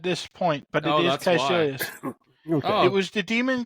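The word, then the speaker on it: Kaecilius: Yeah, Caecilius was never named at this point, but it is Caecilius.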